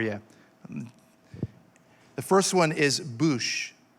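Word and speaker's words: בוש: the first one is boosh it's b-u-w-s-h is pronounced bouche like booth with an sh it's used most often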